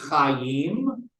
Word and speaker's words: Chai: And to note, you can't just pronounce CHY, right? So you got to add a vowel in there somewhere. And they chose the vowel, the ah vowel, to make it Chai, which in the plural